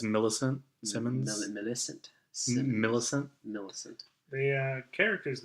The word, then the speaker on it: Millicent Simmons: how do you pronounce her name? Yeah, it's Millicent Simmons.